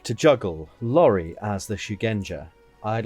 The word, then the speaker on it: Shugenja: Is that how it's pronounced? Shujenga. Shugenja. Sorry. Shugenja. Sorry, I'm terrible with pronunciation. Shujenga is a hard game.